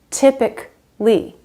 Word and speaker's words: typically: Logically, not logically, just logically, typically, logically, typically, radically. Every time you see A-L-L-Y at the end of a word, the A is silent.